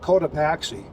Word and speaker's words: Cotopaxi: see a town called coda paxi and that's pretty much how it's spelled Dakota Taxi and this